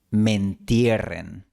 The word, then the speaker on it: me entierren: La palabra me se fusiona con entierren y se pronuncia mentierren.